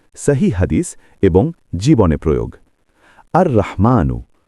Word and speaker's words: আর-রহমান: আর রহমানু, উচ্চারণ আর রহমান, অর্থ পরম দয়ালু, ইংলিশে দ্য মোস্ট মার্সিফুল।